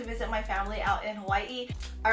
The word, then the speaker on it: Hawaii: my family out in Hawaii all right I would say it the correct way I know a lot of us that live on the mainland say Hawaii when it's actually called Hawaii day you even say it